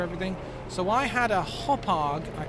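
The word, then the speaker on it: Hauppauge: So I had a Hopag, I think that's how you pronounce that, a H-A-U-P-P-A-G-E, a HD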